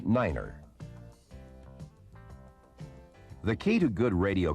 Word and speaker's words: niner: to represent these letters nine is the only number pronounced differently it is said as Niner the key to good